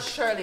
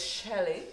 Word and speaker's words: Shelley: It's Shelley. It's not Shirley. It's Shelley.